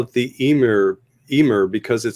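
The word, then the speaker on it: Ymir: every single person and every single interview all pronounce it the Emir, including Ray Harryhausen. And Chad said he had a friend that when he said Emir, said, "What did you say? It's pronounced Weimer."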